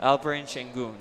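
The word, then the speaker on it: Alperen Şengün: go ahead and tell the people how you pronounce his name albrin sheng there you go he almost had a double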